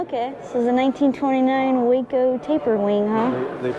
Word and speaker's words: Waco: This is a 1929 Waco taper wing. Huh. They pronounce it Waco. Oh, it was a wo. Okay. Not wacko or waco.